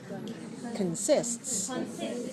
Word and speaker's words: consists: word consists all right tell me about the letter o in the word consists is it clear or is it reduced reduce so don't say Khan say can can very small look at your mouth look at your mouth should be can can consists consists all right how many